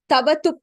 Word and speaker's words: क्तवतु: prathama pratyayah tavatu pratyayah you write it as ik it vatu so iktavatu but when you actually say the pratyaya's name you say it as tavatu pratyayah the ik is kind of silent there.